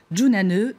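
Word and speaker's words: jñāna: cette qualification en éplant un mot sanscrit utilisé dans l'hindouisme qui signifie sagesse junane qui s'écrit j N a n a pas mal merci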